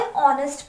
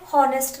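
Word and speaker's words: honest: ऑनेस्ट, पहली बात तो इसे ऑनेस्ट पढ़ते हैं, हॉनेस्ट नहीं पढ़ते, एच साइलेंट होता है।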